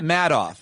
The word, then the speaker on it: Madoff: In case anybody's asking unrelated is the question pronounced matto off.